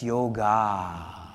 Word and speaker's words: yoga: First, you think I'm pronouncing it wrong. It's not yoga, it's yoga.